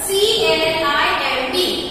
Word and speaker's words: climb: C-L-I-M-B. Climb. Okay? So how will you speak? Climb. We will not speak B. Okay? So B will be silent letter.